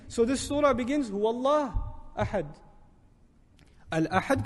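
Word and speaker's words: الله: say Allah Allah but what do we say when we pronounce Allah we make it heavy we break the norm of the Arabic language for this word it defies all principles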